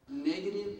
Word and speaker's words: negative: Negative, discouraging thoughts. Negative, discouraging thoughts. negative는 네거티브죠? 네거티브를 좀 빨리 하면 네거티브, T 발음이 리얼 발음으로 이렇게 줄어들죠. 네거티브, 부정적인, 네거티브, 부정적인, discouraging, 실망시키는, 낙심케 하는, courage가 용기지요?